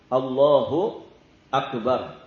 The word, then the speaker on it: Allahu Akbar: Karena sebagian orang ada yang tidak tepat, ada yang Allah hamzahnya kepanjangan. Allahu Akbar. Itu jadi berubah makna nanti. Kalau a-nya panjang itu jadinya kalimat tanya, pertanyaan aslinya a Allah.